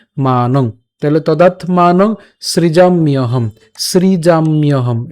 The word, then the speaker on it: সৃজাম্যহম: তাহলে তদাত্মানং সৃজাম্যহম, সৃজাম্যহম। এই যে সৃজাম, ম হসন্ত। ঠিক আছে, এবং এই জফলা থাকার কারণে উচ্চারণ হবে হচ্ছে ইয়, তাহলে ইয় হম, সৃজাম ইয়হম।